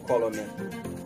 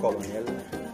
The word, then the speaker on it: colonel: On a tendance à prononcer parfois même en anglais colonel. Non, ça détruit un peu notre niveau d'anglais quand on prononce colonel. C'est colonel.